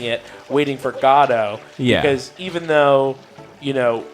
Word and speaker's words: Godot: most likely pronounced with not with the inflection on either the first or the second syllable but with the inflection on both syllables godo which is fine